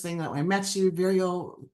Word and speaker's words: Vireo: that I met you Vio rhymes with Cheerio so forever forever right